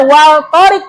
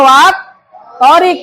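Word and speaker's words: والطارق: Nah, ini kan tulisannya harusnya wal torik, tapi dibacanya wat torik. Dianggapnya alif lamnya tidak ada.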